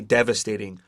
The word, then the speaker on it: devastating: for it is devastating yeah that's devastating and that's spelled s t a t i n g d e v a s t a t i n g it's devastating and that's why i could not